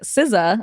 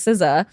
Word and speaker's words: SZA: not like a weekend song no it's uh siza I think is how you pronounce s sza artist and it was when